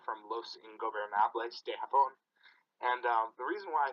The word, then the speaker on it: Los Ingobernables de Japón: First off, it's Tetsuya Naito from Los Ingobernables de Japón.